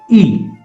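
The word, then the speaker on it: い: The second character is I, which is pronounced as E. E.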